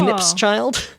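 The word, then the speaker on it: Knipschild: It's Nip's child with a silent K, I assume silent, at the beginning. Oh. Knip's child.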